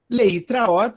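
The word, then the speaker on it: להתראות: Eu faço uma sílaba maior, junto tudo isso aqui, o tav, o resh e o at. Leitraot significa até logo, adeus, até mais, até a vista.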